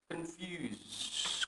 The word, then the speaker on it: confused: Confused. Confuse. Confused. Confuse. I am confused. Confused. Suara terakhirnya apa? Sama Z.